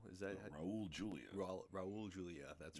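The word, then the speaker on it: Raúl Juliá: Julia Raul? Is that Raul Julia? Raul Julia.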